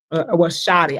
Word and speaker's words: Shorty: Shoddy. I gotta say it right. Shoddy. You gotta say it like in Atlanta.